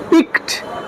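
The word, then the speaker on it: piqued: Our friend felt পিকড, উচ্চারণটা কি? পিকড।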